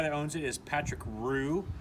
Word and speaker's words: Rue: uh the guy that owns it is patrick roo spelled r-u-e and so that's why they call